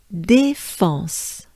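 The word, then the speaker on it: La Défense: i would say oh you can think about restaurant restaurant this is the same sound here so again and together defense let's try together with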